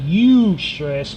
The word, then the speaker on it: Eustress: It's pronounced Eustress, but it's spelled EUSTRES.